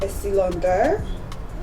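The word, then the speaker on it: Estée Lauder: And because I want to change my foundation, I got testers for Too Faced and Estee Lauder. That's how it's pronounced.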